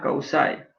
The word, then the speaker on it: causa: Causa, causae. Este es el enunciado de causa. Acentuamos siempre la sílaba, en este caso la penúltima, porque no hay agudas en latín.